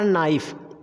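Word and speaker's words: knife: अगला वर्ड हमारा नाइफ। अब नाइफ में क्या है? के है, के बाद एन है, एन के बाद हमारा आई वॉवेल्स आ गया है। हमारे पांचों वॉवेल्स में से कोई भी अगर वॉवेल्स आ रहा है तो हमारा के साइलेंट होना ही होना है।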